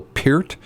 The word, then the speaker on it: Peart: Most people know him as Neil Peart, but the correct way to pronounce his name was Neil Peart.